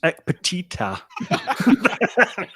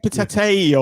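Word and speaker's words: Ekpiteta: So it's Ekpetita. Wasn't it Ekpetete or something? Ekpetete. I think Peter Clark had something similar to that. It certainly wasn't correct, whatever he was calling him, though.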